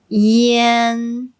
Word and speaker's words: yan: So they're not pronounced as yan and yuan. This is how you should pronounce them. Yan, yan, yuan, yuan.